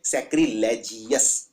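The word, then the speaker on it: sacrilegious: भी आता है ओवस तो इसको जीओस की तरह प्रोनाउंस कीजिए सैक्रिलेज अगला है सार्जेंट बहुत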